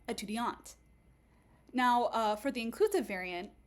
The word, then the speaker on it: étudiante: So for example, in the masculine, you also have a null, and you'll get étudiant. But in the feminine, whereas you'll have an E written, what that actually signals is that you're just going to pronounce the final consonant. So you get étudiante.